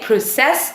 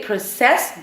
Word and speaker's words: process: They process information or they process documents. So process when it's used as a noun, proCESS when it's used as a verb.